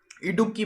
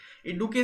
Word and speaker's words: इडुक्की: देखिए इडुक्की से हम देखते हैं कि इडुक्की यानी डुबकी, इसको याद रखिएगा डुबकी से, ये थोड़ा ऐसा ही प्रोनाउंसिएशन हो रहा है इसका डुबकी जैसा।